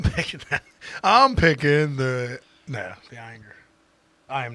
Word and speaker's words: Ayinger: So we are pitting fifth season against Ayinger.